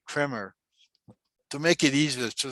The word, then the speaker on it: Kremer: But it's actually German, so it's Kremer. The E is like an A, long A.